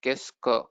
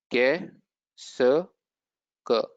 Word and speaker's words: qu'est-ce que: So the best one is this what, which is too long, but the pronunciation is qu'est-ce que. So it is qu'est-ce que.